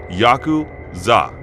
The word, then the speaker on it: Yakuza: are fairly complex but the worst possible three cards to draw are eight 9 and three pronounce yaku zah in Japanese the implication being that